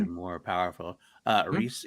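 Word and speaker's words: Rhys: But I What's think the pronunciation? Is more powerful. Reese Ifans.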